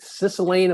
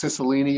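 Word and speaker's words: Cicilline: one the incumbent is a gentleman named david sicilian am i pronouncing that correctly yeah we say it's sicilini up here but uh david sissolini okay i don't think he would be a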